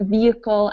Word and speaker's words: vehicle: help history but this these last six words here are are the words that don't actually get an H pronunciation because sometimes we use H without pronunciation in English so that would be